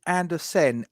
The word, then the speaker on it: Andersen: 5 yards, I've put in Andersen, Andersen. Yeah, that's how it's spelled.